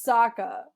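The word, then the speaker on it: Sokka: it where Saka says my name is Saka rhymes with AA and waka waka and that's like my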